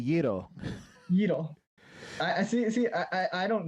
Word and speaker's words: gyro: Is it gyro? It's actually Yiro.